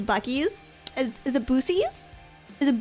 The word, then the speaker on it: Buc-ee's: Something about me that just really says I love bussies. So I guess, yeah, I would join the cult of Bussy. Dizzy Cease? What? Is that not how it's pronounced? Bussies. Bussies? Bussies? Buc-ees.